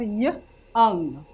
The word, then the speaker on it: young: So we have young. How do we spell young? Y. Y. O. O. U. U-N-G. Did we hear this letter in the word? The letter O? It's a silent letter.